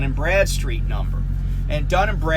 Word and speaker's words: Bradstreet: But you can go to their website, DNB, like Dun Bradstreet, and Dun is spelled D-U-N. Bradstreet, just like it sounds, Brad Street.